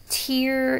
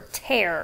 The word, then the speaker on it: tear: for tear over here because tear and tear are homographs they sound they look the same but they sound different oh and then we